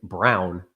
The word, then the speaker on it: Braun: Yeah, he's pronounced Brown for some reason.